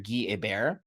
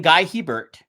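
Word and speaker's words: Guy Hebert: If you remember former, this is quite a while ago, Anaheim Ducks goender G A Bear. Yes. Not French. He he pronounces his name Guy Heert.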